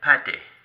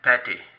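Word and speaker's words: Pathé: And this is the French company called Pate. I'm going to say that again, Pate.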